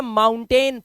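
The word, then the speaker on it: mountain: है ध्यान से देखना ओ यू को आऊ पढ़ना है ना तो इसे पढ़ते हैं माऊ माऊ के बाद ना तो माउन माउन और फिर ये हो गया टेन तो ये हो गया माउंटेन पहाड़ को इंग्लिश में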